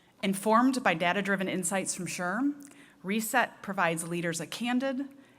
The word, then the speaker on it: SHRM: president and CEO of SHRM pronounced Sherm the society for human